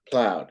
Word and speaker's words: plowed: How about plowed? Two syllables. No, you would think maybe, but it's just plowed. It's not plowed, it's plowed.